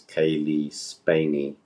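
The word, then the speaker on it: Cailee Spaeny: So, just in case people are wondering, the actress that we're referring to from Alien Romulus is Kaylee Spaney, I believe is how you say her name.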